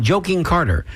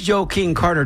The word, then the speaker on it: Joe King Carter: And the way we say it, it you have to you have to pronounce it that way because otherwise it sounds like you're saying joking Carter. And this joke and this Joe King Carter doesn't joke around.